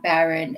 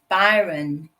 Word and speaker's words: Byron: Um, it's not Baron, it's Byron. Byron Dimala. Byron in English, not Baron. Byron.